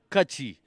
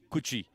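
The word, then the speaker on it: Kutchi: It's Kachi, not Kuchi.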